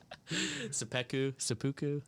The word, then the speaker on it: seppuku: I call them like a seppuku. Is that how you pronounce that? What? Seppuku.